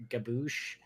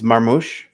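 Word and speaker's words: Marmoush: name I'm not even going to try to pronounce, but seems to be Marmouche? lighting up? Gabagool, Gabouche, It's Marmouche.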